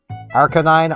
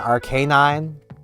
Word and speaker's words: Arcanine: Um like Arconine, Arcanine both are official pronunciations.